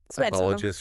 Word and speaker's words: psychologist: Um and here's one where the pronunciation is key. Psychologist or psychologist, right?